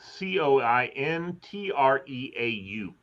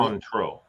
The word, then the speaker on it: Cointreau: Cointreau. Ooh. I may be pronouncing it incorrectly. That's something for Cointreau, I think is how it's pronounced.